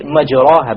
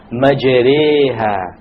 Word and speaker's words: مَجْرِيهَا: If you were to not know what an imala is, you would say majraha, but that's a mistake. You have to pronounce it with an imala. An imala is pronounced as this, majreha, majreha.